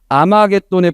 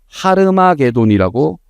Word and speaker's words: 하르마게돈: 들어보셨죠 영화나 책 이름으로 아마겟돈에 불러 모으는데 그 아마겟돈을 지금 새 번역에선 하르마게돈이라고 번역을 합니다 그게 더 원어 발음에 맞으니까 자 하르마 개도에 불러 모읍니다